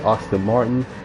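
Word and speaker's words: Aston Martin: So, yeah, basically you notice that we don't usually have our T's pronounced, to say the least. Like, for example, everybody says Austin Martin, but we say Austin Martin.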